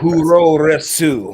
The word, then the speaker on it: puroresu: Puroresu.